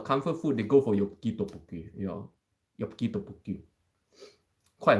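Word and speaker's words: 엽기떡볶이: Oh, this is actually one of the hardest Korean words to pronounce for non-Korean people. Yopki tteokbokki. There's a lot of different back and forth sounds that do not exist in English.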